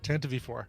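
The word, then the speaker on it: Tantive IV: Darth Marcus says pronounced Tantive. Tantive 4.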